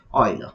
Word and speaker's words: Euler: euler it does oil most of them pronounce it as oiler he actually basically he